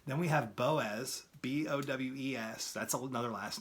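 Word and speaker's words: Bowes: It's pronounced Fox, right? Then we have Boaz, B-O-W-E-S.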